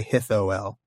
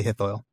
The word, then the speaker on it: Hithoel: to pronounce it, but he says you can basically just pronounce it OI. So oi, Hithoil. Okay. Oi. Just don't say it in 3 syllables. Don't say Hithoel. Say Hithoil.